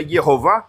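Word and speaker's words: Jehova: em alemão ele pegou a grafia Jeová em alemão se pronuncia yova colocou no espanhol espanhol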